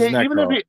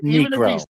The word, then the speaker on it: Necro: His name is Necro, not Negro.